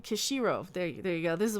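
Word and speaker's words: Kishiro: screen I'm Knight Yukito Curie show I'm saying the name wrong at Kushiro there you go this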